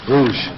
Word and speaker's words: Rouge: The new leisure airline out of Canada into Kingston, Rouge, is that how it's pronounced? Rouge.